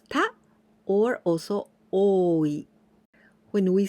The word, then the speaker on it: 多い: We pronounce ta or also oi.